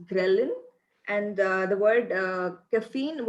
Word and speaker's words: ghrelin: means which is the hunger hormone was prince mispronounced as journaling it's ghrelin and uh the word caffeine was mispronounced as